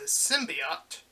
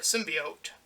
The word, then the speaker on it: symbiote: a separate entity it's a symbiote or a symbiote depending on how you want to pronounce it um two beings